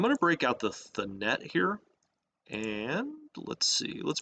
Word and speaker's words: Thanet: Thanet rhymes with planet.